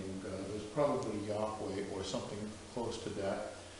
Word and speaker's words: Yahweh: And you could pronounce the name, and you would pronounce it, probably was pronounced Yahweh. We know that from the magical papyri, where it appears as Yao.